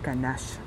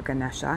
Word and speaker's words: Ganesha: So the first one is the Ganesh Mudra, or Ganesha, however you would prefer to pronounce it.